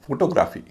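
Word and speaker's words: photography: इसमें वाई से पहले क्या है? ए नियम क्या है? कि वाई से पहले वाला जो सिलेबल होगा वो हल्का होगा। तो वाई से पहले जो ए है वो तो हल्का हो जाएगा। तो उसका उच्चारण होगा ग्राफी। ग्राफी नहीं होगा। ग्राफी होने पर भारी हो जाता है।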